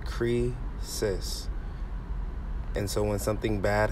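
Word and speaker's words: κρίσις: were evil so condemnation the greek word is pronounced cree cis and so when something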